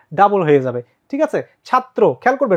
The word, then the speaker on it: ছাত্র: কি ভুল আছে ভাইয়া তোমার র ফালা যার সাথে থাকবে ওই বর্ণটা কিন্তু দৃত্ত হবে দৃত্ত মানে কি ভাইয়া ডাবল হবে ডাবল কিভাবে যেমন দেখো ছাদ তখন হয়ে যাবে কি ত্র দুইটা ত দুইটা ত হ্যাঁ আমরা যদি বলি চক্র তাহলে উচ্চারণটা কিরকম চক দুইটা ক তারপর র চক্র ঠিক আছে বা চক্র তো একইভাবে তোমার কি হলো ছাত্র অথবা ব্যতিক্রম দেখো এই